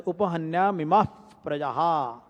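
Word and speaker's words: उपहन्यामिमाः प्रजाः: After the visarg, then pa is pronounced as fa, f. So it is pronounced as upahanya mimah prajaha.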